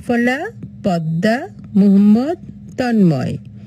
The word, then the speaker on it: পদ্মা: এবার ম ফলা পদ্মা আমরা কিন্তু দর নিচে ম লিখেছি কিন্তু আমরা উচ্চারণ করব পদ্মা মোহাম্মদ ময় ম দ